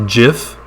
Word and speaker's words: GIF: to pronounce it and so i pronounce it jif but you might call me wrong and that's fine um what are these